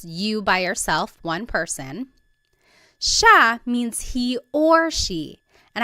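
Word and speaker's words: siya: so it's just you by yourself one person Sha means he or she and I want to point out that sha is gender neutral that means you have to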